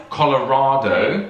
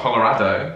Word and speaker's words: Colorado: make up your mind colorado it's not colorado colorado it's just too confusing there's some